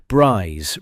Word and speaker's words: Brize: BRze rhyming with prize in the pronunciation used at the station and by the surrounding area served as the broader conversion training center for the British glider force.